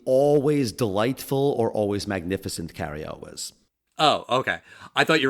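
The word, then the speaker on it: Cary Elwes: introduce that actor how' you say his name Carrie Elis that's how you pronounce it no it's pronounced the always delightful or always magnificent Car El was oh okay I thought you were going to say it's illis or something no no no like you say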